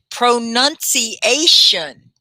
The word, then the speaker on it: pronunciation: Pronunciation. Pronunciation. Can you say it? Pronunciation. Pronunciation. It's 5 syllables, guys.